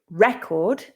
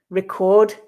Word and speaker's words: record: on its word class here the stress on the noun tends to be on the first syllable and the verb